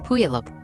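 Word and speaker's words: Puyallup: A few days later, he took his sons to Puup, Washington, to stay with his father, Steven.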